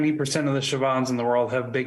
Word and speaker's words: Siobhan: wait a second you're saying your name isn't Siobhan Siobhan is Another Irish form of Joan meaning